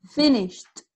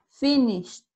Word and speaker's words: finished: Finished. Finished. Como con una T al final.